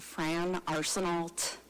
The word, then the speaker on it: Arsenault: And it's a Fran Arsenault, hard T.